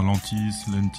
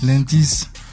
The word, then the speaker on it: Lentiss: Cette semaine, on reçoit Lantis. C'est comme ça que ça se prononce. Ouais, tu peux le dire Lantis. Lantis.